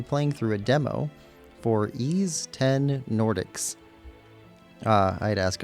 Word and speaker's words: Ys X: going to be playing through a demo for NIS 10 Nordics. I had to ask a friend how to pronounce this game. So, NIS 10 Nordics is a action-adventure game published by NIS